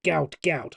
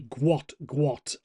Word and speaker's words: Gout: And his name is spelled Gout. So you may have thought it's Gout. I thought it was to start up with. But some quick research says it's actually Gwot.